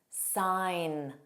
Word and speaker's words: sign: The rule is GN spelling has a silent G pronunciation.